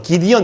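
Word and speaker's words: Gideon: 예, 미국권에 가서 기도원 하면 못 알아듣더라고요. 기디언 이래야 돼. 기디언. 이 발음 고치느라고 힘들었습니다.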